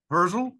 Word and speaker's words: Herzl: what happened through him and then uh Theodore herzl is that the way you say his name